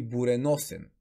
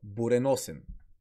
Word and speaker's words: буреносен: ударението е върху о така и при буреносен буреносен о-то се чува като по-скоро у-то се чува като о буреносен но в буря то